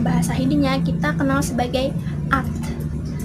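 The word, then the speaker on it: आठ: Kalau misalkan dalam bahasa Hindinya kita kenal sebagai at. Jadi A-A-T-H bacanya at, kayak ada gitu terakhir at gitu.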